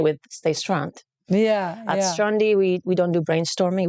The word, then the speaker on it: Stronde: but I like it on demand it is pronounced strandi because of that acronym element but we do